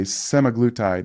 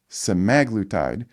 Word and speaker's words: semaglutide: Just an aside, people say semaglutide, and it's semaglutide. Terzepatide. Oh, got it. Interesting. So the emphasis is on the other side of emphasis it.